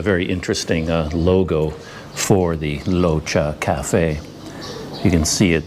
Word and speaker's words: Rocha: a thai name and it's not pronounced with an r sound it actually has more of an l sound so it's more like locha so it's not roka at all in fact